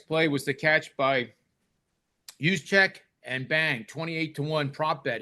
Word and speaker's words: Juszczyk: Not Juzik, but Juszczyk, the fullback for the 49ers.